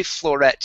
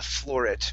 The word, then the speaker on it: floret: most beautiful floret yeah so we're gonna say floret here and stress that that ending okay so the most beautiful yeah the most beautiful floret was chosen the most i think i said yeah i think initially i said uh floor it but um um hearing it i believe it's the stress should be on the end okay so the most